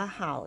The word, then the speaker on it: 好: ชอบ เรียน รู้ ค่ะ จะ เห็น ว่า คำ ว่า เห่า ตัว นี้ นะ คะ เมื่อ ออก เสียง เป็น เสียง ที่ 4 แล้ว ก็ จะ แปล ว่า ชอบ นะ คะ ชอบ ทำ